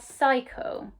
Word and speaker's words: cycle: at this word cycle why do you think that at the beginning we pronounce this grapheme with a s sound and then in the middle we pronounce it with a k sound exactly if you remember i said we pronounce this graphing with a s sound when it is followed by an e an i or a y so at the